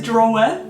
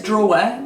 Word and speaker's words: drawer: Well, it should be 2 syllables. If anybody else says drawer instead of draw, please As in, let me know. If you pull open a drawer and it's full of socks. Yeah. Drawer. That's what. Yeah. It should be 2 syllables because the way it's written.